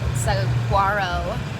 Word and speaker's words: Saguaro: caravanning with saw it on the way to saguaro since that's the correct way to pronounce it um national park and he's never